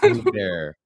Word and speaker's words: Saint Hubert: Saint Hubert. Saint Silent Hubert. H.